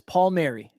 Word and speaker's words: Palmieri: Did I pronounce that correctly? Yes, Palmieri.